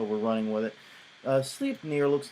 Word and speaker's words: Sleipnir: first one is called sleep near and by the way that is how they pronounce it on their site so we're running with it uh sleep near looks like this it